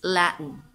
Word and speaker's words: Latin: So, asa ang mga stress? Nasa first syllable. Latin. Arabic. Arabic.